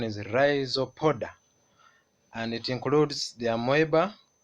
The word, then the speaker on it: Rhizopoda: So this phylum, the pronunciation is RHIZOPODA, and it includes the Amoeba.